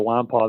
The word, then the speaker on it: Nwankpa: past week juan pond the n and the k are silent so we will say his name correctly for the rest of the time we cover him finally xavier wampa the number one safety